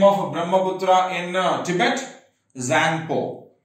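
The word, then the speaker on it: Tsangpo: Zangpo. T is silent. Okay, Zangpo.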